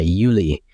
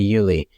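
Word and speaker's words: jullie: people talking to you they'll say Uli and it's pronoun it's spelled j u l l i e but it's kind of like hey you guys like like when someone says Hey Yulie like that means like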